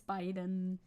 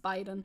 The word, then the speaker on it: Biden: it I'm sorry though it's Biden for future reference he's pronounced Biden but I like bitten too personally I'm also a